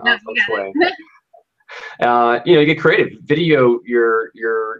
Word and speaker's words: feng shui: No, Feng Shui.